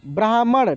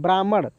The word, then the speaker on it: ब्राह्मण: कंजूस ब्राह्मण, ब्राह्मण, ठीक ना, ब्राह्मण, समझ रहे हैं ना कैसे इसको उच्चारण करें? ब्राह्मण।